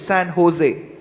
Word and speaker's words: San Jose: But the good part about Mojo is, unlike most other words start with J and O, should not be pronounced as Joe, it's Ho, it's San Jose.